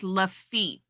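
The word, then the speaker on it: Lafitte: His blacksmith shop is now a bar pronounced lefit.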